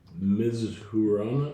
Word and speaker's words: Mizuhara: EPO Mizuhara.